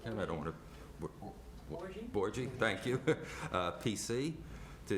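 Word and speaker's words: Bouregy: Do you know how to pronounce that, Ken? I don't want to... Borgie?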